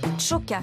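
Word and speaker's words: Čoka: est situé cet endroit Choka c'est ainsi que cela se prononce est une petite ville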